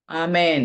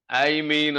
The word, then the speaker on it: ആമേൻ: വൽക്കരിക്കാൻ ഒന്നും പോകണ്ട കേട്ടോ ഐ മീൻ എന്നൊന്നും പറയണ്ട ഇന്ന് നമുക്ക് ഇംഗ്ലീഷിൽ സ്റ്റൈൽ ഒക്കെ വന്നിട്ട് ഐമീൻ എന്നൊക്കെയാണ് പറയുന്നത് ആമീൻ എന്നാണ് ആ വാക്ക് എല്ലാ ഭാഷയിലും ആമീൻ എന്ന് തന്നെയാണ് അതുകൊണ്ട് നമ്മൾ അതിനെ ഇംഗ്ലീഷ്